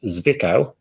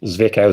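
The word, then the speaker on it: Zwickau: the id electric cars and that is the zvikau um excuse my pronunciation zvikao zed w-i-c-k-a-e and we weren't taking away points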